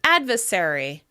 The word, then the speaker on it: adversary: "Adversary" turns into "advesary, advesary."